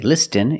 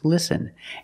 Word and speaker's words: listen: have patterns letter patterns where the t is silent example listen and fasten you see s-t-e-n with this spelling pattern you can see that t is silent listen we don't say listen it's listen and fasten example fasten